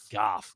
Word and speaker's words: Goff: Goff. Golf. G. Whatever. G A HF. Yeah, pronunciation.